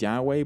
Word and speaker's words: Yahweh: Today it is sometimes pronounced as Yahweh, but that's just one theory.